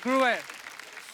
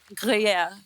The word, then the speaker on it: Gruyère: Jacqueline ने pronounce it. Jacqueline क्या नाम है इसका? Gruer. Chateau de Chateau? Gruyère.